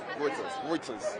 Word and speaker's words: Reuters: How do you pronounce it? Reuters.